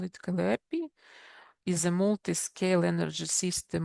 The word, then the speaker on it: Calliope: Extremely difficult to pronounce, and but Calliope, they call it Calliope, is a multi-scale energy system modeling framework, which is written in Python.